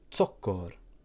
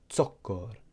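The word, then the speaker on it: zokkor: Notice how that letter has more of a t sound at the beginning. It's ts, tsiu, or tsokor. So it's slightly different to the Z here at the top.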